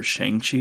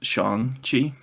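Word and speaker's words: Shang-Chi: well same way uh it's no longer shangshi it's Shang Chi oh is it like the correct pronunciation then right it's also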